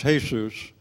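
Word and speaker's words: Jesús: and I can say I talked with Jesus for 4 hours, but really it's pronounced Jesus.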